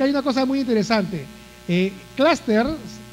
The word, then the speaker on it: cluster: Cluster se pronuncia con la A la U, claro, porque es un vocablo inglés.